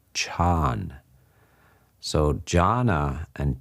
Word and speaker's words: chan: When that word is brought into the Chinese language, they prefer monosyllables, so they chop off the last A and it becomes chan. So jhana and chan, or chan, is the